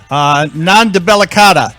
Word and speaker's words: Non Debellicata: as I call it Nandu Bella cada am I saying it right yes that's right that's right so but this